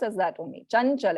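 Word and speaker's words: चञ्चल: Chanchal. It's not Chamchal. It is Chanchal.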